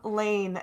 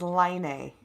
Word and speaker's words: Lane: a computer it's i it mispronounces the name lane as laney there's enough people in the world who are named elaine and i'm not giving out her last name so it's they're they're it's pronouncing lane as line a now for some reason